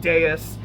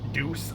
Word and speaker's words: Deus: We get to meet Deus. And I'll go ahead and say right now, it's a name that I often pronounce, like while reading it, I often just pronounced as Deuce. I know that's wrong.